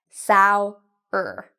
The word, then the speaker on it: sour: Okay, so I know the spelling looks like sow or something, but it actually is pronounced sour.